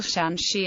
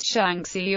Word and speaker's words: Shaanxi: however it is always rendered as the simple shangi and not shanki or shanki as the spelling is irregular it is sometimes found hyper corrected to shanki the idea misinterprets the name as three syllables rather than its actual two syllables history shanki is considered